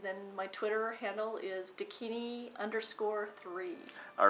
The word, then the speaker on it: Dakini: Well, actually, the proper pronunciation, it is from a Tibetan modality. It is called Dakini, and what Dakinis actually are they are bridgers between worlds.